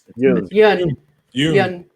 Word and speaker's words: Yeun: What about am I pronouncing his name correct? Stephen Yeun. Yun.